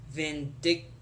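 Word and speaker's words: Vyndktvx: for you it's v-y-n-d-k-t-v-x which is like vindic vindictive it sounds like vindictive I think um but yeah Superman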